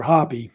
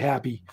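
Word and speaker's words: Hapy: like that and um it's pronounced I think happy or hoppy one of the probably happy and um so each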